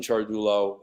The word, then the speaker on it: Ciardullo: uh just to you know reconfirm confirm chargullo um it's usually mispronounced a lot um a lot of people